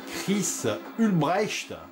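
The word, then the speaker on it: Chris Hülsbeck: en parler voilà donc j'espère que je vais bien prononcer le nom du compositeur des musiques c'est Chris ulbrecht voilà j'essaie de le prononcer à l'allemande he parce que c'est un Allemand bien sûr euh c'est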